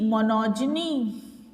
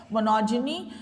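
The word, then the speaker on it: monogyny: मोनो का मतलब तो बता दिया एक, गायनी का मतलब भी बता दिया, हालांकि यहाँ पे इसका प्रोनाउंसिएशन हम ज से कर रहे हैं, मोनोजिनी, तो इसका मतलब होता है महिला, एक महिला।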